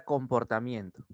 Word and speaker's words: comportamiento: Tú dices con, por, ta, mien. Estás dando la mayor intensidad. Y luego, to. Excelente.